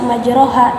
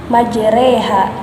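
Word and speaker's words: مجراها: Dalam penulisannya dituliskan majroha, tapi pengucapannya tidak dibaca majroha tetapi majreha karena di sana terdapat hukum imalah.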